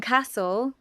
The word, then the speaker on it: castle: In castle, the T is silent.